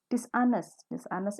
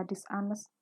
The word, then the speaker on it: dishonest: Dishonest itu artinya nggak jujur. Di sini kenapa dibaca dishonest? Hanya nggak boleh dibaca ya. Bacanya dishonest, bukan dishonest, tapi dishonest. Rude artinya kasar.